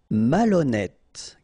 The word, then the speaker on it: malhonnête: Malhonnête. Okay, remember, H doesn't exist, so malhonnête. Don't insist on the final E. Malhonnête. And here you get E accent circonflexe, so you pronounce it like E. Malhonnête.